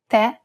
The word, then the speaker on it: tè: If the vowel at the end is an E and it has the grave accent on top, it's indicating that we should pronounce it as an open E. And of course, we must stress the syllable. Tè, caffè, è.